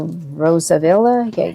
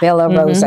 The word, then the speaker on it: Bella Rosa: Okay, now these are Rosavilla. Yeah. Yeah, Bella Rosa. Bella Rosa, I said it wrong.